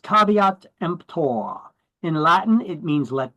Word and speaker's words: caveat emptor: made Caveat Emptor oh boy that is not pronounced kavit EMP it's pronounced caveat empor in Latin it means let the buyer beware